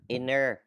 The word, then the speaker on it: international: Cái đôi inter thì không đọc là inter nữa. Mà đọc là inner.